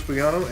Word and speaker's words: Bugano: Here's your hosts, Bugano and Thomas Hogan. Hey, welcome to The Odd Show. We are back. The G is silent.